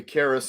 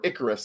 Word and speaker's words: Icarus: to pull back uh or icarus i'm sorry proper that's how iron maiden pronounced it the iron maiden says it's icarus it's got to be icarus right it's icarus uh wow you're good